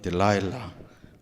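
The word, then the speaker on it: Delilah: 그 다음에 세 번째는 오늘 제 이야기의 무대가 되는 소렉 골짜기에 사는 여인, 우리 한국말로 들릴라 이렇게 되어 있는데 영어 발음으로는 딜라일라 이렇게 하죠.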